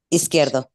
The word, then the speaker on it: Izquierdo: How does he pronounce his name? Izquierdo? Izquierdo.